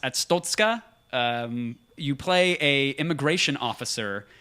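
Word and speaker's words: Arstotzka: Papers, Please is you play, I think it's pronounced Atstotska.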